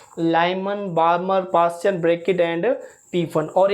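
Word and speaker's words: Balmer: और second is बार्मर series, बाल्मर लिखते हैं, पढ़ते हैं बार्मर से स्टूडेंट, एल साइलेंट है।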